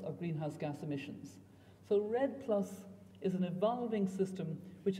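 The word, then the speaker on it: REDD+: I said what so I'll tell you how it's spelled first r-e-d-d and then the plus sign obviously and the Redd is a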